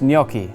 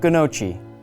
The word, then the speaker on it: gnocchi: И напоследок напоминаю: правильно говорить «ньокки», а не «гнокчи». Ньокки.